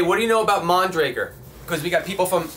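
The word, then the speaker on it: Mondraker: know nothing about it I thought it was moon Drakkar yeah no is it just one way they were pronounced that was mondragor yeah that's what I heard ok yeah picked up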